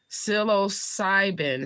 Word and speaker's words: psilocybin: Okay, you say it's pronounced psilocybin.